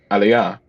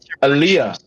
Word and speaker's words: Aaliyah: addictive hook from aliyah i can't keep saying it wrong every time i say it i'm like oliver you've really really up this stuff alia aaliyah i keep saying aliyah like like the muslim thing um but that's